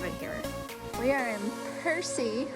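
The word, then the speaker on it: Percé: just really love it here we are in Percy right now that's how you say it and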